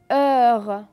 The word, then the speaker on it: heure: et enfin le mot heures heure vous allez remarquer que le h ne se prononcent pas comme dans sommes